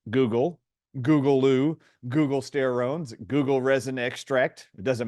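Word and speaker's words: guggulsterone: many different names but it rhymes with the same internet search engine Google so you'll often see it pronounced Google Googoo Google steron Google resin extract it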